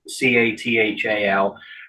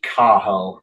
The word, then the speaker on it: Cathal: And so the guy interviewing him used his Irish Gaelic name, which it's spelled Cathal, C-A-T-H-A-L. Though I know, but it's pronounced Cahal because you don't pronounce the T, so Cahal.